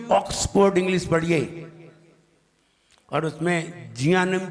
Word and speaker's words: Jnanam: ध्यान रहे, आप न्यू ऑक्सफोर्ड इंग्लिश पढ़िए और उसमें जियानम की स्पेलिंग देखिए। यहाँ कैसे बनता है? एन से, JNANAM, जियानम, JNAN, जियान, AM, जियानम, JNAN, जियान, G/AN नहीं है, ये जी से तो गा बनेगा।